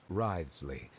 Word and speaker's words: Wriothesley: I mentioned that I have had personal dealings with the administrator of the fortress, Wriothesley.